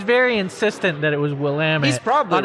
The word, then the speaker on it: Willamette: He was very insistent that it was Willamette.